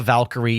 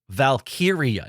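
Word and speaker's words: Valkyria: Lyra Valkyia, especially in a world where like Taia Valkyrie is a name in wrestling that we were all familiar with and it's just so close. Yeah. Lyra. Lyra. Valkyia.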